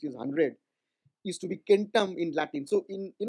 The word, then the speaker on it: centum: 100, used to be kentam in Latin. So in, you know, now we call it centum in Latin, but in original Latin pronunciation it used to be kentam, and in Greek it was katon.